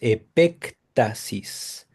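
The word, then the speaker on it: epéctasis: se dice epé Asis es con así como ep como se oye luego sigue una k de kilo después la expresión tasis con con t tasis ectasis con acento en la segunda e Gracias Asis de hecho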